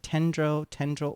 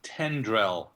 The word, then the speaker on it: tendrel: And I didn't it was like tendril. What was that? It's tendrel. Tendrel.